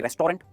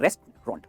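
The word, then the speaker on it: restaurant: इसे कहेंगे रेस्टोरेंट नहीं, इसे कहते हैं रेस्टोरेंट। रेस्टोरेंट, रेस्ट आराम करना, रेस्टोरेंट, दैट्स ऑल, दो सिलेबल, रेस्टोरेंट।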